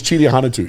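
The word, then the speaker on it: Chidi Ahanotu: His name was Chidia Hanatu.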